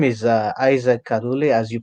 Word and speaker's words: Kalule: My name is Isaac Kalule, as you pronounce it right.